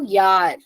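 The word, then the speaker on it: Jahr: if a word is starting from J pronunciation y so Yar yeah J A HR Yar if a word is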